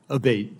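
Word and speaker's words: Abbate: to happen again yes ma'am ever uh Mr abate and am I saying your name properly we've heard it pronounced three different ways today in the hearing aate Senator aate okay thank you um you had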